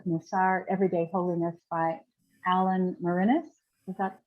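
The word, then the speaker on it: Morinis: The Spiritual Path of Musar, Everyday Holiness by Alan Mourinhos.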